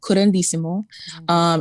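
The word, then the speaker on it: curanderismo: word current durismo means can you help me pronounce it and also could help me find it for people yeah so it's called qurandissimo and it is a blend of latin and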